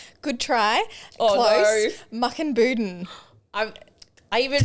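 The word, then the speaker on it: Mukinbudin: So you grew up in the country town of Muckenbuden. Good try. Oh, close. No. Muckenbuden. I even phonetically wrote it out too.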